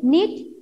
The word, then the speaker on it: knit: So knob, knife, knot, nil, knit, knee. So few words are there. Here K is silent. This K letter is silent. Silent means we don't pronounce that.